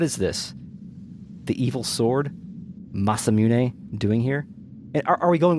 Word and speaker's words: Masamune: masamune all right fine i used to say masamune but i'm gonna say masamune because the name comes from a 13th century japanese swordsmith japanese fake net how do you say it konnichiwa so i'm going to enunciate the final syllable which is why i'm